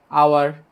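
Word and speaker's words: hour: আর দেখো আওয়ার, এটা উচ্চারণ কিন্তু কি হাওয়ার হইছে না, আওয়ার হইছে, যার জন্য কি হবে?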